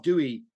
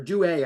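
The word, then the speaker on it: Douai: And I want to talk a little bit about one of its early leaders, the Texan Adolph Dewey, or Dewey, I think his name is pronounced. Dewey, yeah. Dewey, okay.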